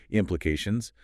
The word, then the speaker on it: implications: The primary stress, the main emphasis, falls on the third syllable, A, which has the E sound like in say or make, implications.